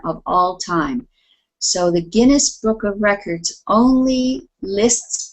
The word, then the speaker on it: Guinness: according to the the genes Book of Records he is the most uccessful performer of all time okay this word here is Guinness Guinness Guinness yes a Guinness Book